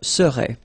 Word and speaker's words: serais: Remember, so A-I-S, but then you don't pronounce the final S. Je serais.